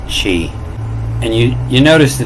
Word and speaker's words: chi: And if you look close at this letter chi, they'll pronounce it kai. I'm going to stick with chi.